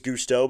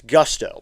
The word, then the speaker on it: Gusto: Now going back over to first is Gustau. But back in safely is Young. It's Gusto by the way. I'd been saying it wrong.